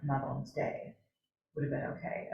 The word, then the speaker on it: Mabon: It's actually not pronounced Mavon either. Yeah, really? I didn't even know that one. Snapchat, Mabon. It's Babon, yeah. Mabon, and it's taken from the Welsh god Mabon.